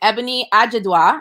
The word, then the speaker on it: Ebuni Ajiduah: So I am here today with Ebuni Ajiduah.